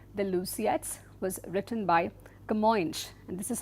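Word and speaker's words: Camões: This historical epic the Luciettes was written by Kamoy and this is how this name is pronounced Kamo.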